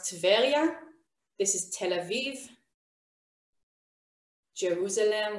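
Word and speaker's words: טבריה: haifa this is tiberius and tiberius we pronounce tevelia this is tel aviv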